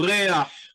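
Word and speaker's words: ריח: We have a We have kind of an auxiliary vowel that helps us pronounce the uh guttural letter at the end of the word. So, reah.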